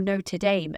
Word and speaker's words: Notre Dame: to pass his examinations, so he left the school of Notre Dame, or Notre Dame as Americans say, and went to work for the Mellon family.